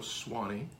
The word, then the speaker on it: Soane: My name is Swanee, even though it's spelled S-O-A-N-E.